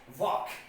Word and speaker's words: walk: by the rule that if the letter l comes before the letter k then l becomes silent so here what we will pronounce it we will pronounce it what work now the next example